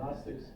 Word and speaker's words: Gnostic: So a Gnostic, and there's a, how do you pronounce it? Good. Leave it out and just say Gnostic, right? So the Gnostics, or the Gnostics, believe in a special